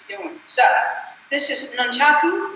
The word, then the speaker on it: nunchaku: So, this is nunchaku. Nunchaku is the correct way to say it.